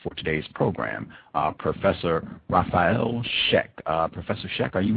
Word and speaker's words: Raffael Scheck: uh our guest for today's program uh professor rafael sheck uh professor sheck are you with us yes thank you outstanding am i pronouncing your name correctly sir oh that's perfect